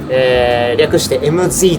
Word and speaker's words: MZ: M for 'Mae' and Z for 'Zawa, that's MZ for Maezawa It's pronounced 'EmZee', please call me MZ if you like.